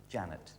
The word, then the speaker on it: Jeanette: Spelled Jeanette, but it is Janet.